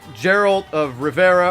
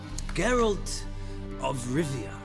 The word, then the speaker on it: Geralt of Rivia: our main character is Geralt of Rivia or Geralt of Rivera or draw it its garage I don't know if it's here I'll let's play it Geralt of Rivia that's how you pronounce it a white main